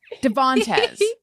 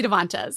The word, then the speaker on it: Devantez: weird i even wrote i even wrote the middle syllable in all caps and then when i said it i put the emphasis in the wrong place devontes devontes it doesn't even